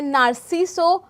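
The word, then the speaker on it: Narciso: This we love आगे कह रहे हैं नार्सिसो रगिस दिस वी लव। इसका प्रोनाउंसिएशन है नारसीसो नार्सिसो रगस रगस कह रहा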